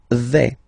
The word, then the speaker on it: vais: The first form is je vais. Okay, so remember, final S not pronounced here. Je vais. Okay, when you combine this AI, you get the sound E, really open.